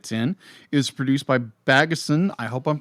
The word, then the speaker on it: Bagdasarian: How do you pronounce the guy who created Bagdasarian is my best estimation. Magnusarian? Bagdasarian. Bagdasarian. Thank you.